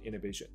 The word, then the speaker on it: inhibition: 那这边则是 inhibition inhibition inhibition。OK，这个 h 应该是没什么发音的 inhibition inhibition，你如果硬念成 inhibition，听起来反而怪怪的 inhibition。OK， uninhibited uninhibited，好 OK 了。所以回来这边，所以他的感觉复活了